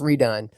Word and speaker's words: R3DONE: The number 3 Done. It's pronounced redone.